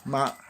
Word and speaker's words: 吗: Well, to make one of these sentences into a question, you just add ma, ma. And you don't pronounce it, you don't very much, so you just say ma.